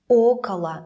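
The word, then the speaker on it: около: be stressed for example okawa will always sound like Ocala the first Oh is stressed okhla means about for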